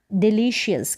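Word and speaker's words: delicious: massive फिर यहां है डिलीशियस क्या है है डिलीशियस यह है डिलीशियस यह जो एस ये जो सी आई ओ यू एस है इसको शस करके इसका उच्चारण आ जाता है शस डिलीशियस इस तरीके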